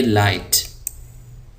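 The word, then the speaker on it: light: हाय fast great लाइट यहां पे जी silent है इसको हम पढ़ेंगे लाइट आगे चलिए हैपी हैप्पी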